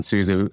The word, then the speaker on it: Souza: JVS and is it Chef Souza? Am I saying it right? Yeah, John Souza.